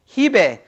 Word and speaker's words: Hebe: Do I pronounce the H or not? So say it again. Hebe.